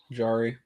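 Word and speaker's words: Jarry: Yari's like a jar. That's how they say it in Pittsburgh. Oh, there you go. Jari.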